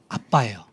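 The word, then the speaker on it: אבא: 있죠 그리고이 아빠라는 말은 아람어로 아빠예요 발음이 똑같아요 우리나라 아빠하고 똑같아요 아빠 아버지는 헬라어 아람어는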